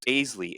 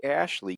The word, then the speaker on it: Aisley: the schedule it was asley asley ay that's not right you spell your name a i s l e y but it's pronounced Ashley can you tell us